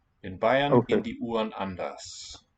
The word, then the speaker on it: anders: The UN also will be reduced. Anders, with the vocalized R.